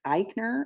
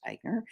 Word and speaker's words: Eichner: it's co-written uh by and starring Billy Eisner Eichner I think it's pronounced Eichner he's been tatted as the first mainstream Hollywood